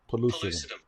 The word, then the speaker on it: pellucidum: Hey, Google, how do you pronounce P-E-L-L-U-C-I-D-U-M?